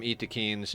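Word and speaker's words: Yttakin: for ghouls are tough eakins he calls them yatkin uh Adam calls them Eakin and I believe Adam has confirmed with the developers that that is the proper pronunciation is Eakin um but getting a tough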